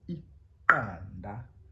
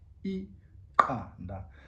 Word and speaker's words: iqanda: An egg in isiXhosa is iqanda. Now that's an example of a word that has the Q, and how we pronounce the Q in isiXhosa is iqanda.